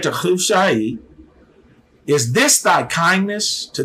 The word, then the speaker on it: Hushai: And the other, Hushai, is how it is pronounced. The H sound has that hard K to it, Hushai.